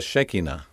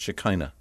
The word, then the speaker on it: Shekinah: That presence of God that brings light is known in Hebrew as the Shekinah, the visible glory of God. Perhaps you've heard it pronounced Shekinah.